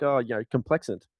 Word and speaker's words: Complexant: I'm like, "Oh, you know, Complex Ant." Like, they're like, "What?" "What did you say?" Well, I think of com- complex and then put ant on the end of it. That's how you spell it.